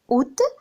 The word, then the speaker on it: août: Août, on ne prononce pas le A.